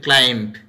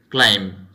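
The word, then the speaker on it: climb: যেমন ধরো আমরা এটিকে অনেকে বলি ক্লাইম্ব, then that's wrong pronunciation, এটা হবে ক্লাইম্ব, এখানে বিটা সাইলেন্ট থাকবে।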